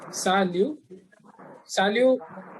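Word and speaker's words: salut: good morning next one is sa liu p is silent salu salu means hi hello and we can use for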